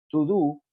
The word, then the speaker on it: todo: la jerga, que es to do. Si bien ustedes están viendo todo, esto se escribe así, pero se pronuncia to do porque en realidad serían dos palabras separadas.